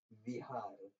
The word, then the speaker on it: Vihar: Bihar means actually Vihar, could be the proper Sanskrit way of writing it or pronouncing it.